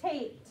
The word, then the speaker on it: taped: I say it, you say it, taped. Taped. Now notice that that ED in the word taped makes the sound T.